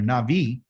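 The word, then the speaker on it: נביא: So they're going to tell you, because what they're telling you is because they're a prophet, they're a Navi, N-A-B-I or N-A-V-I, depends on how you pronounce it, is the seed that's inside.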